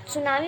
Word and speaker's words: सुनामी: जो टी है ना, इसमें सुनामी में से टी साइलेंट होता है, लेकिन जब आप लिखते हैं तो उसमें टी लगता है।